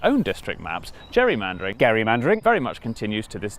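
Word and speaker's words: gerrymandering: gain became known as Gary mandering and then everyone started pronouncing it wrong which is how it became known as Jerry mandering which was good news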